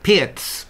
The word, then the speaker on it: Pirc: and um I've been carrying on investigating the Pierz pronouncing it properly this time um together with dragon